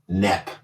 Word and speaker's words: Knepp: I think Michael Knepp. K-N-E-P-P. He stole the sound of the K. that's a silent K because he's the silent killer.